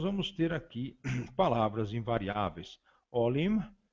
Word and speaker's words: olim: Olim se escreve, né, grafado com O-L-I-M, um M bastante pronunciável, final, olim, outrora.